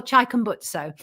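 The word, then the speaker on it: Chikumbutso: Maxwell Chaikutso.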